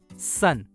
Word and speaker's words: son: उसी प्रकार SON का उच्चारण होगा सन।